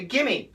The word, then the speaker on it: gimme: A consonant, not always, but many times we can cancel the V sound. So the classic example would be, give me. And what do we say? Most Americans say, gimme, gimme. And we even write G-I-M-M-E, gimme, gimme, gimme.